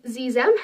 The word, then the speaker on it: xem: And then the other one is Zem. It's spelled Xexem. And it's spelled with an X, but it's pronounced with like a Z sound.